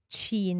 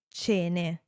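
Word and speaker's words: ce ne: Ainsi, nous ne disons pas « cine », mais « cene » afin de conserver la même prononciation du « e ».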